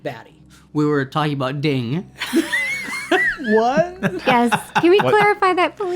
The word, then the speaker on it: Din: And then they rolled with that, and I was like, are they saying So ding? it's not ding. It's No. His nickname is Din.